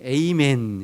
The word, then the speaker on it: 아멘: 그 말에서 나온 말인데, 그게 이제 조금 아주 좀 이렇게 세련되게 발음하면 아멘하고, 미국에서 세련되게 하면 에이멘, 이렇게 에이멘 이렇게 발음하죠.